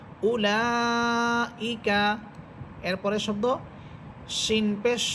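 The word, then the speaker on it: أولئك: তো এই ওয়াওগুলো শুধু লেখার মধ্যেই থাকবে, পড়ার মধ্যে আসবে না।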